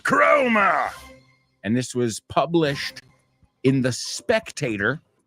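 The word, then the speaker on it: Cromer: that was written by Lord chromer Lord chroma I'm sorry I should say it correctly Lord chroma and this was published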